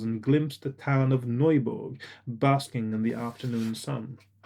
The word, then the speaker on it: Neuburg: I'm going to say Neuburg, by the way, not Newburg or whatever English speakers might think of saying, because it looks like a German name. I'm going to pronounce it like it's German.